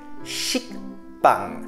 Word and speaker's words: 식빵: 식빵. 식빵. Encore une fois plus, si là, vous ne prononcez pas le que en bas, ça donne 식빵.